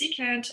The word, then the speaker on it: secant: So CSC is cosecant, SEC is secant, and COT is cotangent.